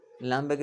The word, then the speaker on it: hamburger: you have uh lamborgh lamberg is a hamburger l apostrophe and then spell the word hamburger as you write it in english le el apostros okay h is silent so so the word